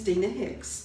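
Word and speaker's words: Deana Hicks: again what's what's your name my name is Dina Hicks okay can you spell that for me yes it's d-e-a-n-a and then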